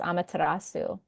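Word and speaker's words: Amaterasu: beautiful Japanese goddess and I hopefully don't butcher the pronunciation of her name but it's amatarasu and she's powerful she's a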